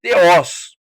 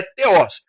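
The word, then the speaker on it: θεός: A palavra para Deus aqui é theos, certo? Nós falamos theo no português, mas a pronúncia correta é theos.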